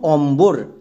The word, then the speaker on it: অম্বর: যেমন অম বোর, এখানে কিন্তু বইয়ের উচ্চারণ পাচ্ছি, তার মানে বো এখানে সাইলেন্ট না। আর বো যদি সাইলেন্ট না থাকে তখন আমরা বি বসাবো। এবার তাহলে বানান করা যাক।